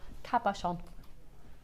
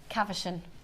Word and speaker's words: cabochon: real issues with it what do you say kaverson oh cav with a v yeah yeah i